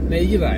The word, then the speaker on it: Nejira: Nejira, ja? Ja. Gut, wie Deutsch, ja? Ja. Bei uns ist diese J wird J gesprochen, ja?